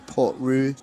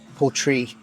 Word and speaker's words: Portree: So we've got the 10-year, we've got the Storm, the Skye, the Port Roux, 18-year, 25-year, 41-year, £350 for the 41-year, 25 mil, £350. Okay, so I said it wrong. Portree is in the capital of Skye.